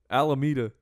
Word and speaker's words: Alameda: Alameda. It is? All right. I haven't been everywhere in the world. Alameda Oh. is how you say that. Da-da-da-da. Alameda.